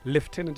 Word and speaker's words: lieutenant: So lieutenant is not bad. Huh? It's not. It's the American way of saying it, and then lieutenant is the British way of saying it.